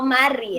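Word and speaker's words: married: yo estoy casada o mary no mar y el pisto mary mary la e no la vamos a pronunciar y estaba sola eso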